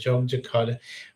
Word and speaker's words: Yogyakarta: Yogyakarta, which is not Jakarta.